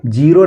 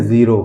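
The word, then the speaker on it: zero: लीजिए लिखा है दोस्तों जेड ई आर ओ इसको क्या पढ़ेंगे जीरो नहीं पढ़ेंगे इसको पढ़ेंगे जीरो क्या पढ़ेंगे जीरो जे आई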